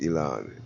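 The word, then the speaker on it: Elan: Elon? Is that how you say his name? Yes, Elon.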